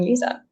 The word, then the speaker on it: Lisa: Um, so I'm Lisa and I I realize it's spelled like Liza to some of you, but you know if if if you forget how to pronounce my name, it's like the leaning tower of Pisa. Uh, Lisa Pisa.